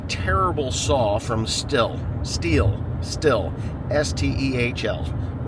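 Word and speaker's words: Stihl: saw from still steel still s TL we call them stills some people call them steals I don't know the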